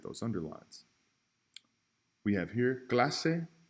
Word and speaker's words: clase: Clase is the only word here that should be underlined out of these 3 because Garcia and doce have that S as in Sally sound. They have the soft C. Clase, however, has the hard C.